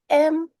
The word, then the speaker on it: moiety: Um, okay, I wanted to share my screen, but I'll spell it. Moiety.